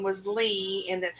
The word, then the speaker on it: Leigh: I've always used it as Leigh, but I have heard people use it as Leah. It's Leigh, but I went to school with a girl.